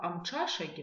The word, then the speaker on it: Амчашаги: Итак, теперь обратим внимание на слово Амчашаги, воскресенье, Обратим внимание на звук «ч», посмотрим, что он пишется как «тш», и вспомним из прошлых занятий, что мы с вами запоминаем правильное произношение звука «ч» с помощью слова «лошадь».